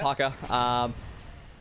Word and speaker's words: haka: Do you know Hakka, or is that how you pronounce it? Yep, it's Haka.